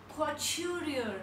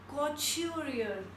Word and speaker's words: couturier: Next is couturier and we pronounce it like couturier. We pronounce it like couturier.